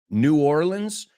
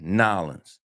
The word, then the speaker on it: New Orleans: New Orleans. Hay tres formas de pronunciarlo. Yo antes decía New Orleans. Ahora digo New Orleans. Y ellos dicen Nolans.